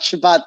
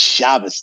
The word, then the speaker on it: Shabbos: explicitly Jewish character, but he would have the Ashkenazi pronunciation. It's not Shabbat dinner at Joseph's house; it's Shabbos dinner.